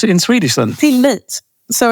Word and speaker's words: Tillit: on a Post-It um till it which and and I don't think I've thoughted about it in that way before because it's pronounced slightly differently in Swedish um but uh to